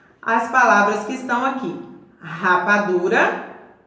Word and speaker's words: rapadura: As palavras que estão aqui: rapadura, registro e rua. Quando eu pronuncio essas palavras iniciadas com a consoante R, sai aquele barulho assim raspando lá na garganta.